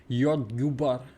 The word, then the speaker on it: jordgubbar: The O is a bit more O-y. Very common Swedish thing when you see an O in Swedish. Like it's more like ooh, you. I write that J. Jordgubbar.